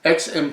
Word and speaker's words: Aix: is Beeler and sons XM provides that says the town in provence if you ever see AIX you pronounce it X this one you know